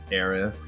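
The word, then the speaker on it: Aerith: It's really not I wouldn't call it like a mistransation like like the th sound is not in the Japanese like phonicon.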